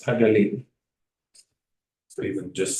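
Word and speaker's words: הגליל: This is the English pronunciation, Galilee. But the way we would pronounce it is Hagalil.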